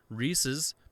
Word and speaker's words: Reese's: rhys is somebody's name it's reese's like ownership apostrophe s peanut butter cup so